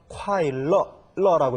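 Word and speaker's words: 快乐: 음악은 인위에 인위에라고 읽어 주는데 아이 악자가 즐거울라고 쓰일 경우에는 러콰일러라고 해서 콰일러라고 읽어집니다.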